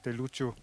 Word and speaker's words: Ryukyu: Walsh que habla de Ryukyu. Ryukyu, sí, sí, sí. No sabemos si se refería a eso de algún modo. Sí, en realidad en el idioma local se pronunciaría más Luchu.